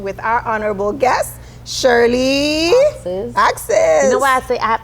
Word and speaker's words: Auxais: It's Auxais. Auxais. Yeah, a lot of people want to say Auxais, Auxais, but my dad made it up, and he was very determined that our last name, people, is pronounced Auxais.